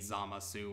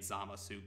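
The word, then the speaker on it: Zamasu: antagonize you please just don't antagonize anyone for saying Zama su or don't antagonize the dub for saying sama suit they're both valid pronunciations and yep there we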